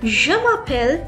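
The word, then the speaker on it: je m'appelle: say that in French I would say it as jam pel and my name so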